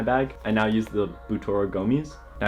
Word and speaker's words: Butora: Now, I used to think it was pronounced Butora, and like many of my friends also thought it was pronounced like that, but after looking on their website, it's actually pronounced Boutora.